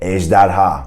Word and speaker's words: ejderha: The first one would be ejderha. Try to say that. Ejderha. It's a 3-syllable word, and I probably like the J sound and also the ha at the end.